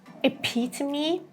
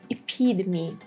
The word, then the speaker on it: epitome: Next word, we would pronounce it like this. Epitome, epitome, the British version, or in the American version, epitome, epitome.